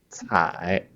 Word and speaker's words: 采: So the left part is 目, the right part 采. The right part pronounces like 采, also 采.